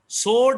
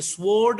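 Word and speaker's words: sword: सोर्ड इसको पढ़ेंगे, स्वोर्ड नहीं पढ़ना, सोर्ड पढ़ेंगे।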